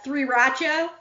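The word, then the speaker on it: 3RACHA: and that is uh three rachel oh yeah a play on the word sriracha because there's there you know rats are fire and there's three of them i just think that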